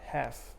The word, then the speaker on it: half: group as the word half or half you don't say half you don't pronounce the l so these four words